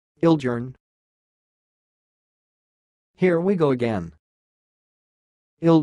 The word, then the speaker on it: Ildjarn: name you are watching it sounds like ill gern ill gern here we go again